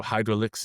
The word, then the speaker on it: Hydrolix: So hydraulics is also good. Um it's the French pronunciation and uh yeah but